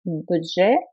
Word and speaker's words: Budget: Kannst du mir sagen, ob sein eigenes Budget hat? Kannst du mir sagen, ob sein eigenes Budget hat? Обратите внимание вот на это слово. Оно с французского языка бюджет. Окончание не произносится.